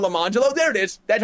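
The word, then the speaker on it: Lemonjello: her twins Orangelo and Lamangelo. And you might say, oh, what are they named after? Yeah, it is spelled orange jello and lemon jello.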